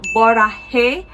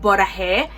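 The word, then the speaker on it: 보라해: Alright, so the first prompt is called Borahae. I don't know if I'm pronouncing it correctly, but it's Bora and then Hey.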